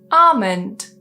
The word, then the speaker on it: almond: K in a word, typically that L in the middle is silent. For example, almond.